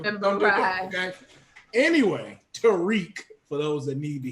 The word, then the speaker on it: Tariq: First of all, you said Tyreek. His name is Tariq.